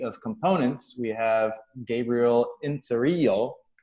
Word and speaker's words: Inzirillo: We have Gabriel Inzirillo. Inzirillo. There we go. That's better. It should be pronounced in the Italian dialect there.